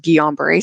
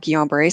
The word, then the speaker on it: Guillain-Barré: you, and I think you have something called Guillain-Barré syndrome. And at the time, I could not pronounce that. it's Right. Right. it's French, Yeah. but he says, it's, I think you have Guillain-Barré syndrome.